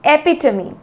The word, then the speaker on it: epitome: एपिटमी, a perfect example of something, किसी भी चीज़ का आदर्श उदाहरण, उसको कहते हैं एपिटमी। एपिटमी, एपिटमी, मेरे साथ बोलिए, एपिटमी, एपिटमी, एपिटमी।